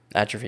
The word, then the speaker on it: atrophy: Atrophy is the correct way to say it. I'm saying it in a normie way so everyone can understand it, right?